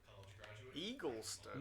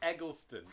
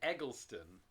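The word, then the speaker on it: Eggleston: Eaglestone. No, no, no, no, no, no, no, no. You can't change the pronunciation of his name. We know it's Egleston. People said Egleston.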